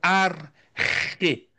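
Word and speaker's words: arché: Isso aqui eu acho fantástico dentro das noções fundamentais da filosofia, é que encontramos a noção de arquê. Arque também pronunciado como arre. Arque ou arre tá lá na página seguinte, a 17.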